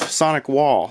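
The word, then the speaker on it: SonicWall: This is Sonic Well, I believe. Sonic Wall, that's how you say it.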